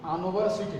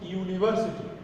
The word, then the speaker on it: university: যেমন ইউনিভার্সিটি শব্দটা কিন্তু আনভার্সিটি না, শব্দটা হলো ইউনিভার্সিটি। অতএব ইউনিভার্সিটি হওয়ার কারণে এটার উচ্চারণ ইউর মতো হয়েছে, এই জন্য এ।